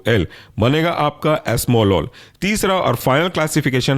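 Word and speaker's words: esmolol: के बनेगा बसो प्रोलोल नेक्स्ट एग्जांपल है आपका एस्मोलोल स्पेलिंग है एस्म ई एस एम ओ एस्म और लॉल एल ओ एल बनेगा आपका एस्मोलोल तीसरा और फाइनल क्लासिफिकेशन है थर्ड जनरेशन का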